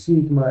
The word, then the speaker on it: Sigma: fin de las palabras el nombre es Sigma el sonido es s y un ejemplo sería